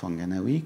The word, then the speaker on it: Whanganui: La rivière Whanganui, ou Whanganui, comme on la prononce, en Nouvelle-Zélande, a opté par une représentation fixe.